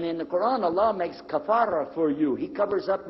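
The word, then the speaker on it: كفر: The word in English, cover, comes from the Arabic word kafara. Kafara. And they mispronounce the F and make it the V.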